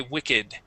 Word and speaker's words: wicked: All right, so that's why whenever you have a word with an ed ending, okay, and it is acting as an adjective, all right, we then pronounce the ed. We say wicked.